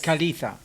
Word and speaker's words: Kaleeta: Kaleeta. Hello, Do I pronounce right? Of course. Kaleeta.